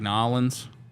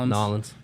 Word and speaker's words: New Orleans: Jensen says, growing up in Maryland, we used to pronounce it Merlin. Merlin, like Nolans. For New Orleans, yeah, Nolans.